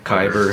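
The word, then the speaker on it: Kaiber: is your favorite AI thing you've seen recently kyber software what is it kyber kyber how do you spell that k-a-i-b-e-r Iver what does it do so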